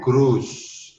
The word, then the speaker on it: Gruß: Bacaannya adalah SZ. Jadi S dicampur dengan Z. Jadi bacanya Gruß. SZ, Gruß.